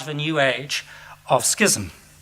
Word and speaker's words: schism: the new age of schism or sysm as my colleague sue Peters insist it should be pronounced these remarks are offered